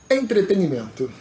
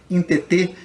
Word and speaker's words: entretenimento: Então entretenimento é mal pronunciado muitas vezes. Por quê? Porque as pessoas falam interter.